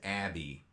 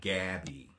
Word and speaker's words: Abby: my name wrong yes my name is Abby and not Gabby yeah you know and